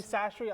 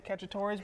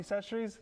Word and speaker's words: Chachere's: I used, how do you pronounce it, Tony Chachere's. Tony Chachere's. I say Cacciatore's, but I know I'll probably get tar and feathered if someone heard me say that.